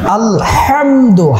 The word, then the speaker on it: আলহামদু: আলহামদু হাটাকে চিকন করে পড়তে হবে।